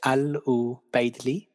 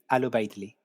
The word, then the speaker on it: Al-Ubaydli: oh yeah um now how do we pronounce your last name it's ALU Bley ALU Bley okay cool yeah I